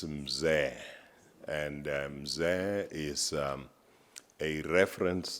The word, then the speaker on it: Mzee: I saw his name, I called him Mzee, because that's how most of us South Africans would pronounce it, until the kindness of the chairperson said, this is Mzee.